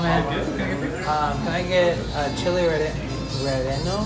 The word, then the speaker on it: relleno: Can I get chili relleno? How do you pronounce that?